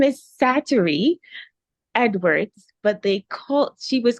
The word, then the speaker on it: Sattery: So her name is Sattery Edwards, but she was called Thelma. Sattery is spelled Satarie.